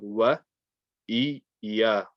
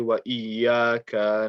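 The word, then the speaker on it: وإياك: So don't rush the alif and just join the waw to the ya immediately. Make sure you're saying wa iya, wa iya.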